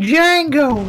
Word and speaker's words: Django: is quite the resi django Django Dobby pretended B doesn't even exist except for writing the B the D is silent bumbo my chair broke